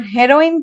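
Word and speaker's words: heroine: तो ये दोनों के प्रोनाउंसिएशन में ही बात अलग आ जाती है।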